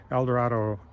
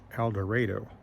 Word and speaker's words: El Dorado: uh El Dorado Kansas now they pronounce it eloro I don't know I've always said El Dorado and there's several cities in the US named El Dorado but they said elor so I don't know but